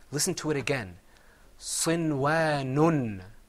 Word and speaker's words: صنوان: And that word is pronounced sinwanun.